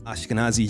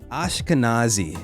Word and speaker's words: Ashkenazi: And our son, she's a descendant of Ashkenazi Jews, I think is what it's called.